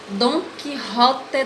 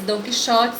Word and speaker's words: Don Quixote: Essa semana vai ser uma obra chamada Don Quixote de la Mancha, né? Lê-se Don Quixote, só que se pronuncia Don Quixote.